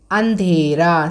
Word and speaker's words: अंधेरा: मुश्किल, अंधेरा. See, this is a अनुनासिक. So this pronunciation अंधेरा has to come from both nose and mouth.